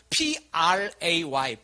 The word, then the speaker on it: pray: 그 play 말고 P-R-A-Y, play. 발음이 되나 몰라요? pray.